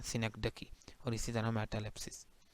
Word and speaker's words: synecdoche: और इसी तरह ये सिनेक्डकी, इसे कुछ और नहीं पढ़ना, ये इसी की यही प्रोनाउंसिएशन है, सिनेक्डकी।